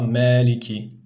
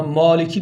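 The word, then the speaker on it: مَلِكِ: harftir Ne gibi mesela Meliki buna Maliki demeyeceğiz Kimileri adam imam Tabii okuyor maliki yevmiddin diyor doğru değil me diyeceğiz arkadaşlar Meliki yevmiddin nun arkadaşlar N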